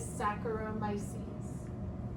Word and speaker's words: Saccharomyces: So for the genus name, for the yeast, it is Saccharomyces. Think of like saccharides.